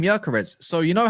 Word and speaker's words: Gyökeres: He's got the 2 dots above the O. You spell that as like Ozil. That's how it's like Gerson's.